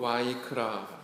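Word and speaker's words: ויקרא: 있습니다 아 차례 위니의 3 먹은 히브리어 제목으로 와이크라 라고 그렇게 발음을 할 때 그리고 부르셨다 이런 뜻이라고 합니다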